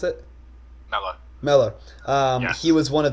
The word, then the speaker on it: Mellor: Mellor, is that how you pronounce it? Mello. Mellor.